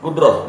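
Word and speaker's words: قدرة: Jadi yang pertama rahasia musibah dia terjadi karena kodrat Allah. Kudrah. Kudrah bacanya kudrah ya sebulnya karena ta marbutnya kan kalau dimatiin jadi ha kdrah gitu ya. Kalau bahasa Indonesia jadi kodrat ya.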